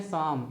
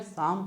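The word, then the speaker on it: psalm: गया अब लिखा है पी एस ए एल एम इसको हम बोलते हैं साम इसको क्या बोलते हैं साम पढ़ते हैं तो पी इसमें क्या है साइलेंट है जैसे मान लीजिए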